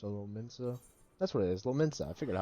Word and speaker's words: Lominsa: That's what it is, Lominsa. I figured out how to pronounce it again.